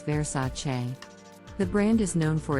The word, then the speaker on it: Versace: mispronounce this Italian brand as versatile but the correct pronunciation is Versace the brand is known